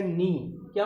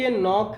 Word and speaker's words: knock: KNOCK, नॉक है, ठीक है। के यहाँ यन से पहले के आया है तो यहाँ की छिपा हुआ है, इसलिए इसको हम पढ़ते हैं नॉक।